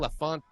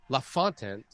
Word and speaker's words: LaFontaine: On the Brunswick side, you had Jaden LaFont. I always get this kid's name wrong. Jaden LaFontaine, who's out of Stratford, old lineman going to Kentucky.